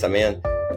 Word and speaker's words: Semyon: and it's Sean by the way name is pronounced seman uh so I run the Venture Capital fund